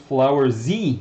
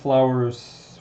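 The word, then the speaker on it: Flores: try i'm just saying my name is pronounced flower z not flowers flowers flowers z flower flower z i hope i'm pronouncing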